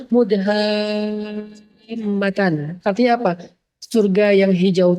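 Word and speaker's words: مدهامتان: Bacanya juga harus panjang karena dia rimbun banget. Sehingga bacanya Mudhammatan.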